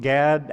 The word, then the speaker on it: Gad: to raiding and then GAD which rhymes with raid you can see their